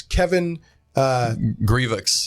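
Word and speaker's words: Kevin Grevioux: It's Kevin Grievous, yeah, that's how he pronounces and David Williams.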